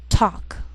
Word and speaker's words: talk: she'll it'll wheel veil sometimes L can be silent so you have to be careful the first five words